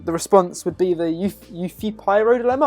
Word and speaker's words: Euthyphro: response would be the you feat pyro dilemma I'm not actually trying to pronounce it so it's pronounced the Euthyphro okay you see fern